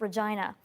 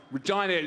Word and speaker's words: Regina: that capitalize on how the city's name rhymes with vagina a phrase that the Rolling Stones used when they visited the city in 2006. someone told me you know Regina just it rhymes with